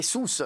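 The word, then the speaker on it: Sousse: quel boulet je sais pas comment ça se prononce bah c'est sousce sousce voilà sousce ah oui au on a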